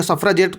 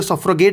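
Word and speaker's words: suffragette: सफ्रेजेट movement एक सही pronunciation कहा जाएगा सफ्रेजेट, कुछ लोग इसे सफ्रगेट भी कहते हैं, लेकिन सफ्रेजेट मूवमेंट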